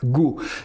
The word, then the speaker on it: GHO: AAVE, c'est le GHO, qu'on prononce à mon avis Go.